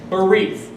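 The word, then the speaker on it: בְּרִית: The Hebrew word for covenant is barith. It's spelled B-E-R-I-T-H. Barith.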